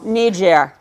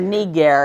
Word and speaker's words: niger: Calamus niger, or niger if you prefer. I use church pronunciation.